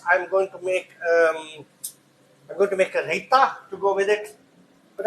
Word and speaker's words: raita: It's basically raita. R-A-I-T-A, raita. So how you pronounce it? Raita. What the fuck's he talking about me? Raita. So we say raita.